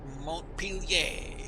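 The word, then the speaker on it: Montpelier: Okay, here in Vermont, we subtracted one L and pronounce it Montpellier.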